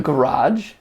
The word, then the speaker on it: garage: I catch a lot of flack because I only pronounce it with one syllable.